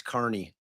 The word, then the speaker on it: Kearney: but here the so everybody's saying it's it's Carney like why do you guys have to pronounce everything wrong in Boston and Massachusetts it's clearly Kierney no it's however the man says his last name that's what it is so that's true because